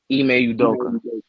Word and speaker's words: Ime Udoka: it's just gonna be unfortunate for how you pronounce his name again? Ime Udoka.